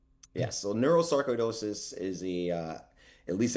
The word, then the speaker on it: neurosarcoidosis: So, it is pronounced neuroscaridosis. Yes. So, neurosaridosis is a uh at least at the time